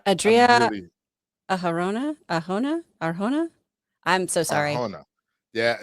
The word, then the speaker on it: Arjona: Christian, it's pronounced Adra Aharana. I still go for it. I'm not Adria Arjona.